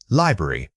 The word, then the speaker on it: library: The word is library. Say it again. Library. Remember that stress pattern on the very first syllable.